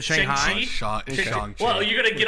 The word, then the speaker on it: Shang-Chi: But Shanghai at 2, you kidding me? Well, how do you pronounce it? You said Shang-Chi? Shanghai? You said Shanghai? Shang-Chi.